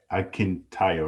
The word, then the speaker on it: Akintayo: So, could you pronounce it for me? Oh, okay. Akintayo, Akintobi. Okay. Akintayo, right?